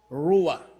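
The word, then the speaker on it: רוּחַ: It will pronounce ruwa.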